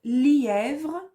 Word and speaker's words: lièvre: C'était simple, la difficulté peut-être dans lièvre. Attention, li, est, vre. 3 syllabes.